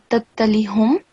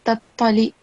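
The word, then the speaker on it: تطلع: And then the reason why I asked you to recite again from this verse is because you said tattalihum. So it's not hum, it's tattali'u.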